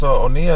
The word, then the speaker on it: Oniah: like where where are you originally from yes onea is the last name is Nigerian okay yeah